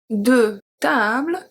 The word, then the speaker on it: tables: Or if we look at the plural, if we say deux tables, two tables, well, the table, we don't pronounce the S at the end.